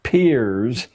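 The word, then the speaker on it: Peirce: philosopher human history has produced he was it's pronounced Pier but it's spelled as if it were Pierce Charles S Pierce a strange figure a part-time lecturer at Harvard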